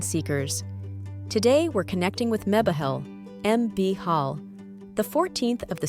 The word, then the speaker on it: Mebahel: Name: Mebahel, pronounced Mebahel.